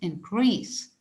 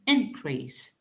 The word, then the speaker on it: increase: the verb to decrease for the noun we keep the stress on the first syllable for the verb we keep the stress on the second syllable and we pronounce increase and for the noun